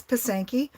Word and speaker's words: pysanky: I wrote it and they're like pasanki yes that is correct it is pasanki um pasenka it for individual um but pasanki for for more than